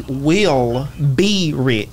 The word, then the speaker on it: Willrich: that why it is my name is pronounced will be rich right so we'll reach